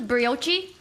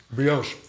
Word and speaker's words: brioche: How do you pronounce this? Brioche? Brioche. Brioche.